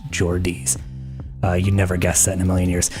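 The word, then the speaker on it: Geordie: So, again, Mojo, people from Newcastle are called Jordies pronounced Jordis.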